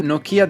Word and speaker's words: Nokia: It's really Nokia the right pronunciation. I didn't know it. I always called it Nokia. I believe that Nokia is how we call it here in Italy, while for an English audience, Nokia will sound more familiar.